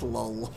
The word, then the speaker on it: lulz: They're both technically L skylights, so I'm going to say that it's pronounced lull.